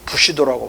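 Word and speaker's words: 武士道: 맨날 칼산만 구수하다가 무사도를 그놈들은 부시도라고 발음하는데.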